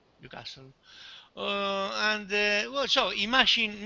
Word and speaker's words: Newcastle: So when you say the city Newcastle, say Newcastle, no Newcastle, Yeah. Newcastle.